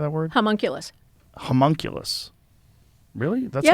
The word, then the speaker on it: homunculus: Homunculus. Really? That's Yeah. how you say that? It's spelled animacule?